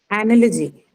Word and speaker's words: analogy: this case, anyway, it has to be that because the first sound in analogy is the schwa sound. It's unstressed.